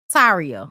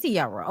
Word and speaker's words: Tiara: Taria. Okay. Is it Taria? Is that how you pronounce it? I want to Tiara. Is it Tiara? It's Tiara. Okay.